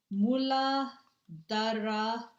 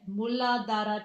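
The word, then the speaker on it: Muladhara: All right, root chakra is known as moola dra chakra. That's how you say it. Mulad chakra.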